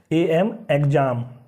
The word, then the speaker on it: exam: तो next EXAM, तो यहाँ पे ज का जो है एक्स जो है उच्चारण करेगा EXAM एग्जाम, एग्जाम।